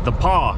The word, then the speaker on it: The Pas: saskatchewan that sign says the paw is that way the paw is spelled t-h-e like the space paw p-a-s the paw manitoba take the next